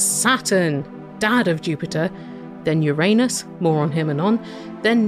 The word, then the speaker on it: Uranus: Do you pronounce it Uranus or Uranus? Because I was raised on Uranus. Then in the 1990s, it seemed like people were really trying to get Uranus to take off.